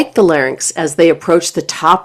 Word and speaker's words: larynx: The correct pronunciation is larynx, not larynx.